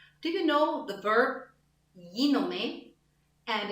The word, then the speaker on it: γίνομαι: So in γίνομαι, me as a German, I pay attention to the E sound. And I have to pay attention to the last E, so I don't have a German And what helps me pronunciation-wise is to say the E with a smile. γίνομαι. The smile makes my E sound better. Γίνομαι in English can have